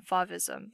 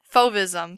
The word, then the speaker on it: Fauvism: started his work on favism i think i'm saying favism right i think i'm sorry give me a second hold on hold on hold on fauvism sorry i've been pronouncing it wrong duran started to believe